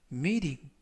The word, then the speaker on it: meeting: 이번 표현은 meeting, meeting, meeting 이라고 발음하시면 되겠고요. 이때 T 발음을 부드럽게 르 그래서 meeting 이라고 발음하시면 더 좋겠습니다.